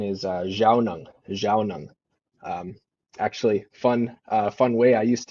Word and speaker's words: Zhaawnong: The pronunciation, there's actually 3 kind of ways to say my name, depending on where you learn, where you've understood the Anishinaabe language.